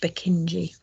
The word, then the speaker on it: Purkinje: them and i think his name was spelt k-y-n-e but it was pronounced bukinji i think that's why